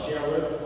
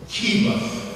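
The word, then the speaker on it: Cherith: You would then be announced either Sheriff or Sheriff. But the accurate pronunciation is Kirith.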